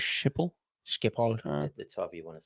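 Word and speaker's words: Schiphol: Peach's Galos in Amsterdam skall airport is that like Bob Galo did you pronounce it skall I thought was shiple skip the you want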